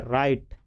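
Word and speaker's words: write: डब्लू आर आई टी तो यहां W silent रहता है इसको पढ़ते हैं राइट ठीक उसके बाद पत्र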